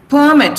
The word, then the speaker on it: permit: have to take the permit from the principal and she has to, here, what is this? How do you pronounce this? Permit. Permit. You are stressing mit here. So this is a verb.